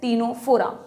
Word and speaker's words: Ctenophora: phylum बनाया that is टीनो फोरा बहुत मिलते-जुलते नाम है सी से सीलेंट्रेटा सी से टीनो फोरा हालांकि यहां सी साइलेंट है इसलिए नीट में गलत